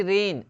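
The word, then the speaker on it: reign: वैसे रेन, रेन का मतलब शासन, शासन, ठीक है। तो आर ई आई जी एन, रेन, रेन का मतलब हो गया शासन, तो यहाँ पे जी क्या है, साइलेंट है।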